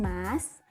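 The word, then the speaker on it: ます: Tidak hanya satu, partikel penanda predikat ini ada 2, yaitu des dan mas, yang ditulis dengan huruf desu atau masu dalam bahasa Indonesia, namun dalam pengucapannya cukup dengan kata des atau mas.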